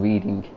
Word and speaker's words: Reading: So this is Reading. Although, if an American comes into the stream, they'll probably just say, why have you named something Reading? But no, that is Reading. That is just how it's spelt. English spelling for you, because everything is fucked.